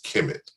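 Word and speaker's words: Kemet: the prominent names is the word which we pronounce is kimit and it is believed that the root of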